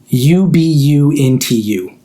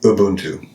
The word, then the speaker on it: Ubuntu: How do you spell the operating system Ubuntu? I say Ubuntu. I also say Ubuntu. I know there's some controversy around it. I think people say like Ubuntu versus Ubuntu.